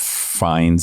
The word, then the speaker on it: Fiennes: Ray Fiennes is good too. Oh my God. He's so good. Can you explain to me why Ralph Fiennes is Ray Fiennes?